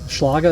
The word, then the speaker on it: Schlage: 19 I think late 1920s it was Walter schlaga schlaga is how it's pronounced known as the lock wizard I think